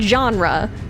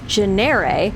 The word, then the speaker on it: genre: there was a word genre, but I thought that it was a synonym for genere, which is how I read it in books, and that genre must